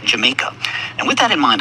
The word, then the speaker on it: Jamaica: Now, most relevant to this discussion, the initial consonant was spelled with the Spanish jota, corresponding to the English J. And the English later took the island from Spain, and when they did, they kept the Spanish spelling of the island's name, but started pronouncing the characters the English way. And so the Spanish Jamaica became the English Jamaica.